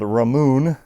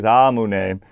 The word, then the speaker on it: Ramune: from, but it's actually Ramune. The only thing difficult to say in Japanese for the pronunciation's sake is the R sound. It's between a D and an L, so it's ra, like Ramune.